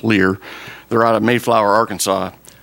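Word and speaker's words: Leher: It's spelled L-E-H-E-R, but it's pronounced Lear.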